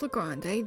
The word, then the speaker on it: Le Grande: Good to know that that's pronounced Le Grande, thank you.